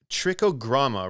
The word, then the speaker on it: Trichogramma: So this Trichogramma, right? Did I pronounce that correctly?